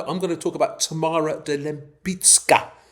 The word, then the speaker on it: Tamara de Lempicka: I'm going to talk about Tamara de Lempicka, not Lempicka. We're going to discuss pronunciation, Mr. Bendor Grosvenor. If you're going to be calling Lempicka, you're going to be Grosvenor to me. Very important Polish pronunciation.